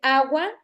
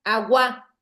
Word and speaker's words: agua: Si fuera aguda sonara agua. ¿Por qué las agudas tienen la sílaba tónica al final en la última? Pero como suena agua, entonces es una palabra grave.